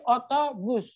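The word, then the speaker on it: otobüs: jadi cara membacanya gimana jadi bibirnya manyun dan sebutkan atau itu yang ada titik duanya gampang kan Tinggal sebenernya tinggal manyunkan aja bibirnya itu udah disebut jadi oto bus oto bus Nah sekarang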